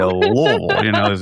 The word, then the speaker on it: Louisville: The correct way to say Louisville is the way you said it, Louisville, like you're swallowing your tongue. Right? Now, outside of this area, folks might say Louisville.